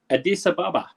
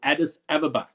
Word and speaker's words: Addis Ababa: of the african union addis ababa or addis ababa depending on how you pronounce it it's the capital